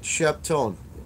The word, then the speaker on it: Sheptone: If you haven't checked it, check out the website, Sheptone. It's spelled exactly the way it sounds.